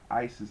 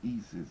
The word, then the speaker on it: Isis: personification of Isis or Isis as we call it but it's EES if we do the um proper pronunciation or asset um and